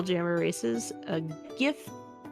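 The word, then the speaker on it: giff: one of the new spell jammer races a gift those who are uncivilized it is pronounced gif um did you really just say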